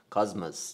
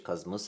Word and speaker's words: کاسموس: خب میرسیم به کاسموس کاسموس در اصل تلفظ درستش کاسموس ولی خب کاسموس میگن سال ۱۴۰۱ و ۴۰۲